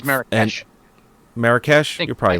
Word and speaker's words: Marrakesh: The film's animal trainer went looking for a blue-eyed camel in the Marrakech market. I think I pronounced that right. And one. I think it's Marrakesh.